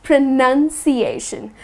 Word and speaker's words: pronunciation: the N oun however the word pronunciation is spelled with nu n and not an o UN and the correct way to pronounce it is pronunciation just the way it is felt not annunciation but pronunciation got it next one espresso